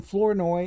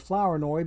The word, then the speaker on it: Flournoy: Flournoy card okay and I call him Flournoy instead of flower annoy because there was in